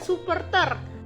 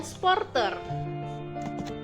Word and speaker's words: supporter: Pelafalan bakunya misalnya sirkuit dan supporter, maka pelafalan tidak bakunya menjadi sirkuit dan sporter.